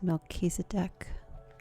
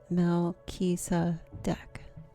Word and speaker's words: Melchizedek: And I believe the way you pronounce the name is Melchizedek. Melchizedek.